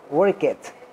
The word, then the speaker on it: worked: Lembrando que esse work aqui, ele não vai ter o som de ed no final, vai ser tipo um et, né? Worked.